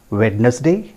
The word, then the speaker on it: Wednesday: Wednesday? Yes. But I tell you that is not the correct pronunciation, friends. The correct pronunciation is Wednesday. Just try to understand. Wednesday. It is Wednesday, not Wednesday.